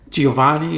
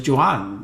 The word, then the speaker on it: Giovanni: them juwan oh yeah that's the way they pronounced it they didn't say giovanni or giovan it was juwan like that you know almost like a whole